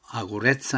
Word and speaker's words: огурец: 아츠키 또 아구레츠입니다.이 아츠키는 안경이고 아구레츠 하면은 5인데 왜 5를 아로인 발음하느냐면은 엑센트가 없기 때문에 r로 해야 됩니다.